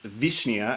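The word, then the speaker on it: wiśnia: is wisnia and when you go to poland vishnia as it's pronounced in polish is actually a flavor so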